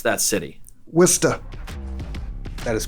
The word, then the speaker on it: Worcester: How do you pronounce that city? Worcester.